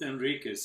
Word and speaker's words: Henriquez: Paul Simon, which is, I think it's the pronunciation is Carlos Henriquez. Carlos Enriquez, yes.